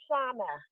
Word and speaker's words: Shauna: You said it wrong, and I like to say Shauna.